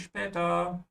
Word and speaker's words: später: Okay, bis später. Okay, see you later. This is an easy expression, obviously, but I just want to remind everybody that the SP is pronounced like sh. Yeah, spä.